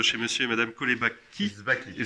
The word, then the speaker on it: Sbacchi: Zbaki. Sbaki, on a du mal à La prononcer, mais boucherie Jean ou la boucherie du Nouveau Monde. c'est quelle origine? Zbaki, donc c'est d'origine italienne, sicilienne.